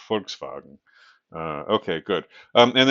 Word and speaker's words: Volkswagen: VV in German or the V in German is pronounced like an F, right? Think with the forkswagen, right? your Volkswagen Folkswagen.